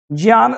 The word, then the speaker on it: ज्ञ: अभी ज्ञान शकुंतलम देखो यह जो ज शब्द है ना एक्चुअली में इसको पढ़ते हैं ज इसका उच्चारण आप अगर आप जानते नहीं आप ग सर्च कर लो किसी से पूछ लेना ज्ञ नाम का कोई शब्द नहीं होता है ठीक है इसको हम ज पढ़ते हैं लेकिन ऐसे ट्रेंड बना